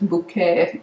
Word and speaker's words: Bucket: lady who's called heisen bucket but she wants to be upper class so she says that her name is pronounced hyacinth bouquet like like the french would say so that's why i